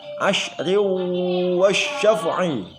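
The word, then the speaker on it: عشر والشفع: Bacanya adalah asyri wasyaf'i. Saya ulangi, asyri wasyaf'i.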